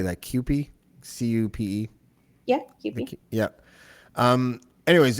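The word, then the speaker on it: CUPE: it was um how do you say that qp c-u-p-e yeah yeah um anyways it was the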